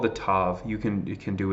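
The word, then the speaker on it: ת: the T letters right we have tough or tough and Ted they both for our for our purposes they make the same sound but they are not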